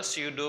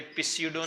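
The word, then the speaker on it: pseudo: this it इज अ सूडो force इसका मतलब क्या हुआ अी सीडो में पी साइलेंट होता है य पिडो नहीं है प्लीज ये सूडो फोर्स है ओके मैं एक एग्जांपल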